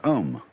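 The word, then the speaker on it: Aum: course the sound M that sound is used because if you spell it out a u m it runs from the back of your throat to your lips and therefore it contains the whole range of The Voice and for that reason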